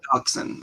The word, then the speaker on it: dachshund: this dutch hound dachshund it's toxin i know it looks weird but you know like a dachshund okay dachshund that's that's